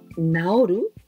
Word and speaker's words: 直る: Naoru, naosu. Oh, exactly. The same pronunciation.